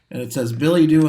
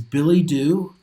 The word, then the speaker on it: billet-doux: billet-doux in the front, and it says no.